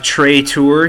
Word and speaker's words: Tray Tours: The S is silent here, so we have Trey Tour here.